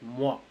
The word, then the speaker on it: moi: So OI is actually spelled as wa, like moi. Again, la joie, and la bois, like that. Wa. It has to come like wa sound.